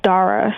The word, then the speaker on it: Dara: Dara's a man, huh? Yeah. Okay. He's a man. How do you pronounce that name again? It's Dara, so it's like with the D as in dog. So Dara.